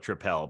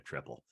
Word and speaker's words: tripel: we got around we we found ourselves saying trael because one of our other beer Avengers is the uh your friendly neighborhood trael man and he insists on pronouncing it that way so that that got me trained to call it tripel but I think there's nothing wrong with calling it a triple um I I think